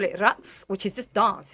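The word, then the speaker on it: raqs: Rats or you can say it with a K, but is like oriental dance.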